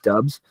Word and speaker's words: Doubs: I think it was Dubes at one point, and now it's Dubs.